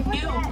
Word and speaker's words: gnu: You'll also hear them called a gnu quite often. It's pronounced N-E-W, it's actually spelled G-N-U.